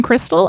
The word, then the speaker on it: Kristal: It is pronounced like the meth but spelled like a stripper so it's easy to remember.